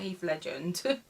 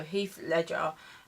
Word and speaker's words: Heath Ledger: I think that's how you say his name. I always get this wrong. Heath Ledger or it's not Heath Legend. I wish. No, Heath Ledger.